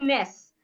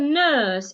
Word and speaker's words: nurse: It's not ness. I saw the ness in the church. That is wrong pronunciation. I saw the nurse in the church. It has a long sound.